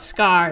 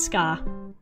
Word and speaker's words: Scar: Cuz it's not Scar, it's Scar. The R gets left off.